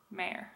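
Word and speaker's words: Mayer: entire name is mayor so like the mayor of a city also I know people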